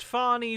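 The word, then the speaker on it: Fani: office they're dealing with Fanny Willis all the time Mr President the attorney Mr President it's pronounced fonnie Willis how dare you also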